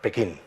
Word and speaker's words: Pekín: no se pronuncian así de hecho pequín está la academia recomienda poner pequín no beijin y de hecho si lo pronuncia un chino diría pichín o sea es es